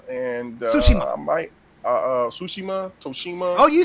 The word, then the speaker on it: Tsushima: Matter of fact, I'm at the end of Ghost of Tsushima, and Tsushima.